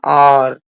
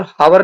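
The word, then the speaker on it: hour: First word है we waited for एन आवर। यहां पर हावर नहीं बोलते हैं। आवर बोलते हैं। तो एच साइलेंट रह जाएगा। तो आवर बन गया।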